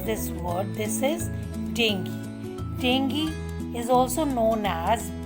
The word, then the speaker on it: dengue: by mosquito first one is dengue learn to pronounce this word this is dengue dengue is also known as break bone fever